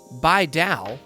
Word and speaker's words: Bidao: Pronounced Baidal, although I've heard some people call it about everything else, Baidal is a new Ethereum-based proof-of-stake blockchain that facilitates a decentralized stablecoin.